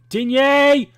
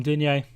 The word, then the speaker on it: Digne: Looked brilliant from Digne. Or Dean, as it's pronounced.